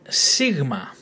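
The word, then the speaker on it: σίγμα: It's letter sigma, sigma, sigma. Now, you might be confused here as to why it's spelled three different ways.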